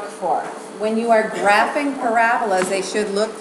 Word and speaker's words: parabola: called a I'll be like Father Joseph it rhymes with araba Parabola there you go you shaped curves called parabas